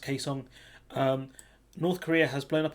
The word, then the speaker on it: Kaesong: office with South Korea, and I think that's pronounced Kaesong.